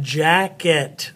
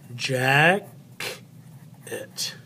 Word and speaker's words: jacket: the unaccented final syllable so Jack it Jack it see how the cylinder the accent goes on the first part of the word jacket so it's more loud than the other part that's the accent is on the very beginning so they're unaccident so